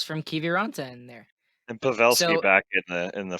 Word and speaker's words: Pavelski: say it wrong and i still say it wrong pawlski no pavelski and we could have